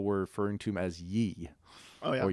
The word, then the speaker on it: Ye: The one that I didn't get when people were referring to him as Ye. Oh, yeah. Or Yay.